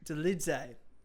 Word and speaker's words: Dolidze: Is it Dolidze? Dolidze. You pronounce the E.